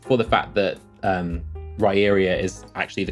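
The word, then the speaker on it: Riyria: I dislike just for the fact that um raria is actually the correct pronunciation but that is the spelling that that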